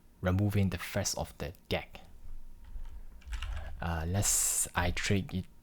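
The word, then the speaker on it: deque: So deck mean some people call this DQ or deck whatever but in Apple documentation is called deck uh here. So it's mentioning the pronounced deck.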